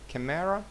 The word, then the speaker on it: camera: Camera. Наголос на перший склад. Camera.